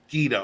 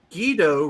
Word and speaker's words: Guido: Guido rhymes with pedo.